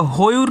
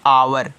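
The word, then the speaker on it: hour: एच ओ यू आर तो होयर नहीं पढ़ोगे इसको क्योंकि ओ से पहले क्या आया है एच आया है तो इसको पढ़ते हैं आवर क्या पढ़ते हैं आवर पढ़ते हैं और आवर का मतलब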